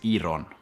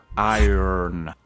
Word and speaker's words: iron: Vamos a la otra palabra y esta es una palabra interesante porque tiene dos significados y no es iron. Recuerda que la R es iron.